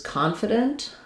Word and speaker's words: confident: So for confidant versus confident, the difference here is that in confident, we stress the con syllable. In confidant, we stress the dant syllable.